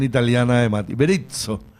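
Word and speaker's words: Berizzo: Beritzo, eh, no berizo, una s, pero más berito. Sí, como pizza.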